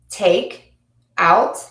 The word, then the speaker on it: take out: And again, for the second word is stressed in phrasal verbs, which goes with our last rule about two-syllable words. Come back, come back. Look out, look out. Take out, take out.